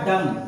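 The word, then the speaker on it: dumb: ये लिखा हमारा है अब बच्चे डब पढ़ देते हैं डब बी भी जोड़ लेते है लेकिन एम के बाद क्या आ रहा है बी तो यहां बी साइलेंट हो जाएगी इसे पढ़ा जाएगा डम और डम मींस होता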